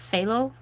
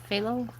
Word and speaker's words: phthalo: But um the the ph one phth was I looked that up and I think the ph is silent. So it's phthalo phthalo if I am correct.